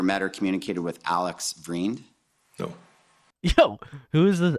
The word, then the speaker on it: Vriend: pronunciation, but in Canada, what is the real Dutch pronunciation? Like it's like vriend.